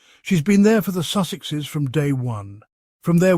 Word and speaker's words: Sussexes: While talking about Harry and Meghan, Oprah jokingly mispronounced their name, calling them the Sussexesses. She added extra syllables for fun.